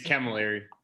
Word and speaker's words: Camilleri: say your last name can miller camilleri kim jerry it's camilleri that was really close